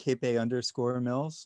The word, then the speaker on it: Capay Mills: So I've been saying it wrong this whole time. It's Capay Mills, and you're too polite to correct me.